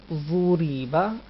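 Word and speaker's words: ضُرِبَ: So we should pronounce this ra lightly, not boldly. Ra kasra ri, ra kasrain rin. Try to read the word. Zuriba.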